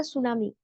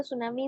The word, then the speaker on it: tsunami: like this next the tsunami the spelling of the tsunami is a little bit odd t s u n a m i t is silent here uh Olivia can you read the tsunami part is tsunami a